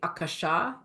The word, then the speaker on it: Akasha: the word aach and by the way the pronunciation is actually Akasha is actually the the original pronunciation but the